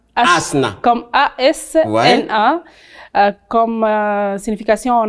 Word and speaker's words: Hasna: Ça se prononce Asna ou Asna? Asna. Asna.